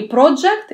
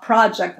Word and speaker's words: project: И правильно произносить, просто корректирую, не project, не o, а project. Больше к a идет произношение.